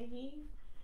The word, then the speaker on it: Kyiv: She was in Kyiv, is that how it's pronounced? Yeah. Kyiv.